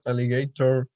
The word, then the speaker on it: alligator: the sentence was the that alligator in the zoo was scary and the stress is in the first syllable here right yes great that's